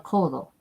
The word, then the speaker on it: codo: I said okay no I hope not El kodo El Colo is the elbow is part of